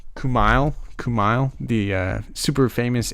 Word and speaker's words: Kumail: uh jeez how do you say his name kumail kumail the uh super famous indian guy i